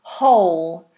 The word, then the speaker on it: whole: Um, whole. So, if you if something is full, it is whole. The W is a silent letter.